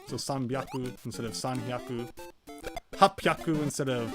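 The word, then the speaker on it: 八百: Sometimes Japanese, you know, letters go together, or rather, syllables go together like that. So sanbyaku instead of sanhyaku. Hapyaku instead of hachihyaku.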